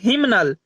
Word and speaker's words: hymnal: वो कैसे, देखिए HYMNAL, इसे हम लोग क्या पढ़ते हैं, हिमनल। यानी एच वाई के साथ एम और एन, यानी MN एक साथ आ जा रहा है तो यहाँ